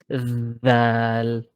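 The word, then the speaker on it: ذال: This sound here is called Dhal. Thou. Dhal. It's simple like that, yeah? Thou. So, like when we say this, Okay. that, Thou. therefore, then, it's very Thou.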